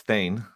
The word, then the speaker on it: Thayne: I didn't hear you pronounce it, but it's Thayne.